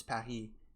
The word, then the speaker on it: Paris: because obviously in France in French it's it's pahi but in English do you say like like Paris? That sounds so weird though. I guess it is Paris in English.